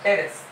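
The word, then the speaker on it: Pteris: अब न्यू में एन यानी नेफ्रोलेपिस, मैप्स में एम से मार्सीलिया, ए से एडियंटम, पी से टेरिस, पी साइलेंट है, टी से पढ़ने का टेरिस, फिर एस से सेलागिनेला और ले में एल से लाइकोपोडियम, ई से इक्विसेटम।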